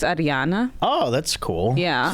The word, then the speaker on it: Arijana: Is that why the J is a yes sound, so it's Arijana.